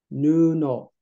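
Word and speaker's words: 布: Do you know what this guy's pronounced that? It meant cloth or patch, perhaps, in this context. Nuno.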